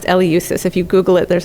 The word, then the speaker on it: Eleusis: from athens to eleusis it's pronounced eleusis if you google it